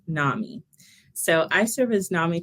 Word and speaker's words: NAMI: And Bart, it's pronounced NAMI.